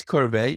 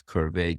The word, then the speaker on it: Qrvey: And that's Qrvey that rhymes with survey.